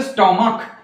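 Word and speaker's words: stomach: কিন্তু ইয়েস বসবে না যদি সিএইচ এর উচ্চারণ ক হয় তাহলে আমরা দেখে নিই এস টি ও এম এ সি এইচ এখানে কি হলো না হচ্ছে স্টমাক কিন্তু বি এনচ যেটা আমরা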